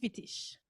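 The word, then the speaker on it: Wittig: formelle dans l'œuvre de Monique vitiche prononce à l'Allemand pour ma mère merci merci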